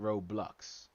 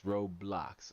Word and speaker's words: Roblox: he says Thunder says it's row row blocks not roadblocks so I can't pronounce it I can't enunciate the O Like A U it's Roblox all right well that's